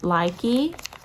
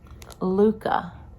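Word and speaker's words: Lykke: And these are I thought they were Likey, but I believe it was Kimberly, Knit for Brains, said they're pronounced Luca.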